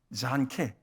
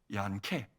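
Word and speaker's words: Janke: 그러면 이게 JANK면은 영어로 하면 잔케 이렇게 해야 되잖아. 그냥 우리가 보통 생각할 때. 근데 독일어는 이 J가 J가 우리의 지읒 발음이 안 나오는 경우가 많거든요. 그래서 제가 얀케, 얀케.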